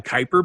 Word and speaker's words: Kuiper: The Kuiper Belt is how you pronounce.